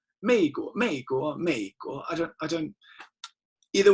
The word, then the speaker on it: 美国: a lot of you, they will say 美国, and you can always tell that they're Americans because they can never really pronounce it.